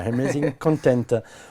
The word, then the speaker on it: Amazing Content: Si vous voulez le prononcer à l'américaine, allez-y, moi je ne sais pas bien faire. Ah, c'est pas loin, C'est Amazing Content. Voilà, Amazing Content.